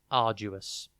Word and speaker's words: arduous: Today's word is arduous. It is pronounced Arduous, and it is spelt A-R-D-U-O-U-S. Think ard, A-R-D, the letter U, and then us, O-U-S.